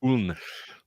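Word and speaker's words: Köln: Uh, because I think it'll be just what interested us most K. Thought it was Cologne this whole time. Actually pronounced K.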